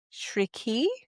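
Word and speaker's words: Chriqui: and Emanuel Shri Oh, I looked up how to pronounce this. Shri, I think it's C H R I Q UI.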